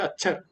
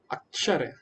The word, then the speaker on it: अक्षर: जी प्रभुजी हरे कृष्णा अक्षर कई लोग इसको क्या बोलते अच्छर अच्छर मच्छर नहीं अक्षर जी हरे कृष्णा आयुष माता